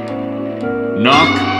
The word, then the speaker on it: knock: Knock. With a silent K.